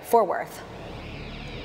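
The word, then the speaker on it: Fort Worth: didn't say it right for worth I I was told you don't say the T and for it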